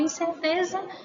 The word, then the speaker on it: incerteza: A palavra incerteza, tanto ela é escrita como a pronúncia tem o som de Z, não é isso?